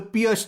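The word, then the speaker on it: Pirc: to recommend is D6 the Pierce defense some people also pronounce this as the perk defense this is a modern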